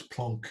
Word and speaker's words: Planck: discovered by Max Planck or max Punk if you want to say it properly but anyway max plunk